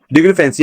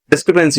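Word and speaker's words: discrepancy: डिक्रीफेंसी या डिस्क्रिपेंसी होना चाहिए, इसकी प्रोनाउंसिएशन में गलत लग रही है, रॉन्ग से लगती है। डिस्क्रिपेंसी होता है वर्ड, डिस्क्रिपेंसी में होता है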